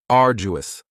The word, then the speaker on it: arduous: Now, you don't hear that D sound that much. It's not very strong. It almost sounds a little like a J. Arduous, arduous.